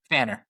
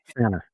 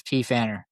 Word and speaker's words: Pfanner: The P is silent, correct? Yeah, Pfanner. Pfanner, right. Oh yeah, I had my 99%. My first MMA fight, I was announced as P. Pfanner.